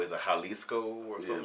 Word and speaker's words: Jalisco: It's a state in Mexico, Jalisco. Is it Jalisco or something like that? Jalisco and J is Jalisco.